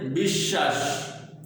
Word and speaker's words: বিশ্বাস: এরপরে বিশ্বাস, বিশ্বাস। দেখো শব্দের মাঝখানে বফলা থাকলে এই বফলা শব্দের যে ব্যঞ্জনের সাথে থাকে সেটা দ্বিত্ব ঘটায়, এই জন্য শব্দটা 2বার হয়েছে।